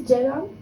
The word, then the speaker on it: Ceren: My name is Ceren. I know it's difficult to pronunciate it for me because I have a problem saying the letter R, and it's just in the middle of my name, Ceren.